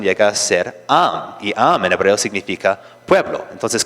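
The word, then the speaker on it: עַם: es equivalente a una a y entonces la pronunciación llega a ser am en hebreo significa pueblo.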